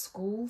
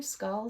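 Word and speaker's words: Skall: the penny vest by I think it's pronounced School Studio skull Studio it's SK a l and they're a ready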